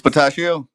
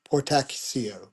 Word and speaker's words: Portacio: couldn't pronounce earlier, Will's Potassio. Spataschio. Potassio. Yeah, yeah, yeah. I've How does that's a POR make that sound? pour. Poor Tassio. Tachio. C. So. CIO. Oh, okay. Portacio.